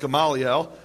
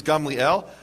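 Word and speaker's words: Gamaliel: precedent which ran Gamel he probably thought it was pronounced galel uh the correct Hebrew pronunciation is Gamel and Gamel as you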